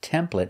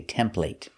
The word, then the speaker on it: template: Now this word is pronounced template in America, but in England they say template. But we're teaching American English, so we pronounce it with the eh sound.